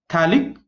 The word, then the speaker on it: phthalic: Phthalic anhydride. Okay, pH is generally silent, or you can see it can have the pronunciation of F.